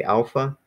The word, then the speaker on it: alpha: So yeah, so if we can together pronounce these, so again, you're gonna put emphasis on that first syllable, alpha. Can everybody say alpha?